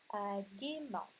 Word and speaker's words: gaiement: Alors, si ce E est placé à côté d'autres voyelles ou à la fin des mots, vous ne devriez pas le prononcer.